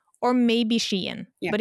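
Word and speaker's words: Skien: But so like for example in modern Norwe like Norway, we have a city called Shan. It's spelled es sken, which if you read it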